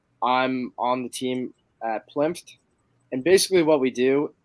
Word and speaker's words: PLINFT: And today we are honored to have Willem from, do I just call it PLINFT? Is that the way? Yeah, that's it. Yeah, that's the way you pronounce it.